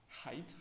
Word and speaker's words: height: Читается height, хотя здесь пишется буква И.